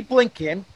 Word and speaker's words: Blinken: give you a hint his last name rhymes with stinking that's right I was going to say former current current uh Secretary of States Anthony blinken who was at the